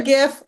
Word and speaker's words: GIF: um short animated uh GIF I pronounce it with a G not a j i don't I say GIF I say GI it's